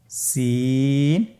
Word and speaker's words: সিন: সিন এবং শিন। সিন হরফটি উচ্চারণ ক্ষেত্রে অবশ্যই 3 আলিফ টেনে পড়তে হবে। সিন হরফটি বারিক হরফ, পাতলা করে উচ্চারণ করতে হবে।